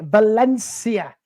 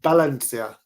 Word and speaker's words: Valencia: would just like to correct you on your pronunciation Valencia Valen Valencia Valencia Valencia yeah but they're a